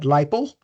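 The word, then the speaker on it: LIPL: People just pronounce that lipo.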